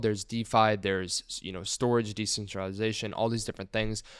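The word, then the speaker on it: Storj: when you look at what is storage storage pronounced as storage is an open source cloud storage platform basically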